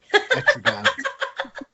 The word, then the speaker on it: Etrigan: I love seeing Entrigan. I can never say his name properly, but I'll just blame it on being American, I guess. Etrigan. It rhymes with man, so it's Gan.